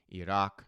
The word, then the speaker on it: Iraq: Nations including India, Pakistan, Iraq, yes, that's how it's pronounced, people, Malaysia and China, those who have been hit the hardest by the ongoing oil blockade.